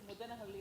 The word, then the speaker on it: Muddenahalli: For example, Muddenahalli is pronounced as Muddanahalli or something. That's okay. Kannada words, conventionally, whatever, Muddenahalli, some people will, that's not a problem.